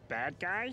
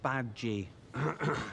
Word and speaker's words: Badguy: Dominic Badguy? It's pronounced Badgy. It's French. Oh. It means good man.